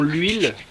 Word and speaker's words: huile: On le huile un petit peu. Ouais. On le huile. On l'huile un petit peu peut-être. On le huile. On l'huile un petit peu peut-être. Liaison. Non. C'est un H muet.